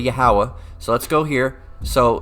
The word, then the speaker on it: Yahweh: abbreviate it all right and they say Yahweh but it's really yahawa so let's go here